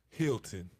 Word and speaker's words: Hilton: the dad of Ryan Hinton, Rod Hinton, decided. Well, I told you the name wrong. It's Hilton. Hilton. Yeah. I thought it was Hinton. My bad. Hilton. It's Hilton. Okay.